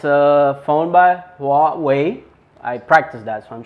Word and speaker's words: Huawei: the away nova 3 it's a phone by wat way i practice that so i'm sure i'm saying